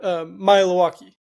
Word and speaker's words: Maealiuaki: But okay, that's the pronunciation. Yeah, and there's no easy way to kind of get around Maealiuaki.